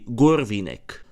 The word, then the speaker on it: Hurvínek: What to call Horvine? Russians had it simple since they just took his shake name and pronounced it Russian aka Gur Veneck.